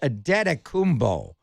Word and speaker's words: Antetokounmpo: And there are 2 different versions of how to pronounce his name. The Nigerian version, his mom and dad are from Nigeria. He was brought up in Greece. So I always chose the Nigerian version, which is Adetokounmpo, where the first one